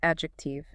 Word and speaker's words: adjective: It's adjective. Adjective. And she gives other examples like adjust, adjunct, adjurnn. Same thing, right? And the D in that ad part is usually silent.